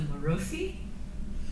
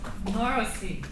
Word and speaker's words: Marosy: So our musician today is Melissa Marosy. I said it wrong again. Marosy.